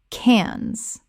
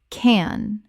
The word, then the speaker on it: Cannes: T Y land Thailand Word 109 Cannes Common mispronunciation Cannes Correct pronunciation Cannes The S is completely silent in this French city name.